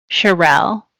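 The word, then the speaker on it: Cherelle: And on all of my schoolwork, I added an E at the end and I told people that it's pronounced like Michelle, Charerelle.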